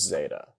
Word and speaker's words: zeta: This is zeta. The Erasmian pronunciation pronounces it like the Z in zero.